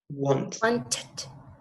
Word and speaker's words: wanted: Wanted. En este caso, ahí sí va a sonar la E.